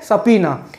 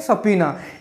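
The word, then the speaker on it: subpoena: Fourth word है सपीना. इसको हम कैसे प्रोनाउंसिएशन करेंगे, सपीना. इससे रिलेटेड सेंटेंस है to order someone to गो टू अ law court to answer questions.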